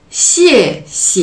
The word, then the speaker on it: 谢谢: modifié le don en temps neutre qui fait si et si et si et si et si et si